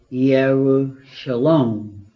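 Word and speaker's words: ירושלים: the city jerusalem incidentally if we said yahoo shalom you get it that is its actual or more accurate pronunciation and mia means literally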